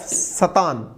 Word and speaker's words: Satan: intoxicant the work of Satan. अब इसका pronunciation सतान है, सतन है, ठीक है ना।